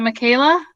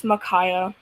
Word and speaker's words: Makaya: about this before smith is it michaela is your mic not working hey i can hear you i can i can hear you hi hi well how do you say your first name it's makaya makaya okay very good sorry for mispronouncing that okay one thing everybody